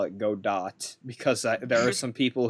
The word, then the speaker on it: Godot: ghado's mask is it godot origato gotta gotta okay because so in french it's pronounced gato and his whole thing is waiting for gato because of his you